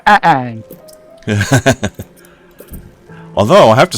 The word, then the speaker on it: Aang: And it's like, it's Ang, not Ong. And it's like, and I used to make the joke back at him, doing a little Key and Peele joke. You're both wrong. It's Ang.